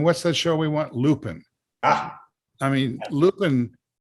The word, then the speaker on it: Lupin: that show we want lupin i mean lupin i think it's pronounced new pen but it is it's